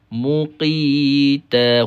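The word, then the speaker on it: مقيتا: Muqita. Huruf qaf tebalkan ya. Guna huruf Q. Kalau ejaan rumi kita huruf Q lah.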